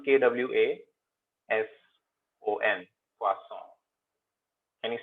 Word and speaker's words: croissant: See, the O and I in French is WA. Croissant. Okay. Okay, so it becomes KWASON.